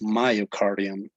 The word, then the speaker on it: myocardium: you tell us again another pronunciation mistake would be myocardium okay myocardium when you say it's my name you say my so it is myocardium and the endocardium okay